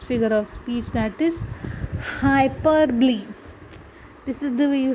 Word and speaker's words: hyperbole: Coming to the next figure of speech, that is hyperbole.